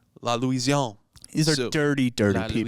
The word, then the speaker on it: La Louisiane: of one thing called La Louisiane. La Louisiane. La Louisiane. These are So- dirty, dirty La people. Louisiane. Is there an E at the end? Yes. Then you pronounce the end.